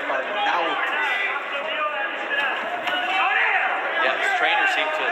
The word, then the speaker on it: Arnaoutis: And that is the pronunciation, by the way. We did check with Mighty Mike today because announcers seem to have a big problem with his name. We hear Arnaoutis, Arnaoutis. It's Arnaoutis.